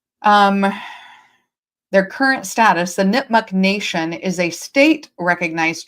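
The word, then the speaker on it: Nipmuc: So, let's talk about the Nipmuk. Um, you can pronounce it nipmuk, nipmuk.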